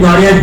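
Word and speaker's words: Guarea: I spell it Gauria, G-U-A-R-E-A, Gauria.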